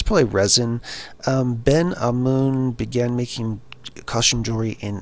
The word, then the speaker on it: Ben Amun: A lot of people pronounce this as Ben Amun. That would be incorrect. It's Ben A-H. if you were spelling it out, it would be A-H hyphen M-O-O-N. So Ben Amun.